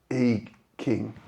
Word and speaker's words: I Ching: It's spelt like I Ching, but I heard it is pronounced I King.